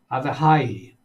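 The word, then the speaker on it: Avichai: Because I didn't use the K sound. Avihai.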